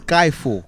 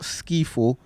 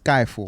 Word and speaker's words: Skiifall: name is spelled because there's two eyes in there there's no why it's skyfall yeah it's not skifo it's a skyfall you know what's crazy